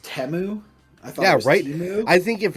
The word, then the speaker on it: Temu: know yeah we are uh didn't know was pronounced temu I thought I think if it one thing